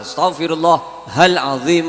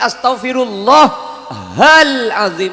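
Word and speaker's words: أستغفر الله العظيم: Jika Anda berhenti mengucapkan astaghfirullah al-azim, Anda mungkin akan melakukan kesalahan dengan mengucapkan astaghfirullah alim, itu salah.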